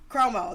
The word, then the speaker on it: Cuomo: Cuomo.